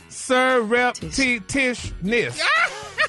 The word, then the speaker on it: surreptitiousness: Just said, damn it, say each syllable together. Too many T. T-I-O-U-S is T's. shus. It's tishus. Oh. Surreptitiousness. That second T ain't in there.